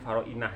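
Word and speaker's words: فراعنة: Bacanya Faroinah zamane lafaz Fir'aun, macane Faroinah.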